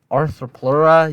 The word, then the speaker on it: Arthropleura: of all time arthroploria why arthroplora you don't need to pronounce the e but what is it